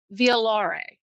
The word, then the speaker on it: violare: So when you break it down in Latin, it means violare, okay, and that's how you pronounce it.